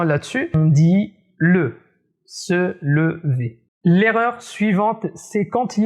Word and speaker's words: se lever: il ya un e8 à la fin d'une syllabe comme par exemple le verbe se lever se lever j'entends parfois dire seul iv seul